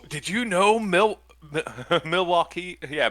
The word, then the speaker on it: Milwaukee: you you know mil Milwaukee yeah Milwaukee is actually pronounced milwauke is that what he